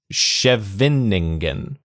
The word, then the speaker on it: Scheveningen: Schustella 3, near Scheveningen. Scheveningen. There's an extra syllable in there.